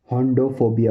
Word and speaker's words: hodophobia: इसको बोलेंगे होंडोफोबिया, होंडोफोबिया, होंडोफोबिया, होंडोफोबिया, होंडोफोबिया, होंडोफोबिया, होंडोफोबिया, होंडोफोबिया, होंडोफोबिया, होंडोफोबिया, होंडोफोबिया।